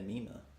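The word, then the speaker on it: Mena: Isn't it Mina? M-E-N-A. Yeah, Mina. You're saying Mina. Mina, yeah. Yeah, like it's an M.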